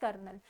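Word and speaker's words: colonel: But pronunciation is कर्नल। एंड इसी तरीके से बच्चों लेफ्टिनेंट के स्पेलिंग भी लर्न कर लीजिएगा।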